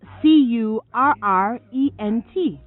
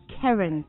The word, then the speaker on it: current: focus on pronunciation so how do you pronounce CU RR ENT current well that's right the word is current not Karen indeed current belonging to